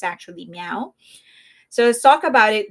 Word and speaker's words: MEOVV: So, I was told it's not Mauve because that's how I've been pronouncing it, but I was told it's actually Meow.